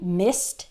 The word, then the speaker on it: missed: i missed my flight it sounds like mi st but it's spelled mi SS e d missed missed the IDI sounds like a t when the last sound in the word is unvoiced so s is an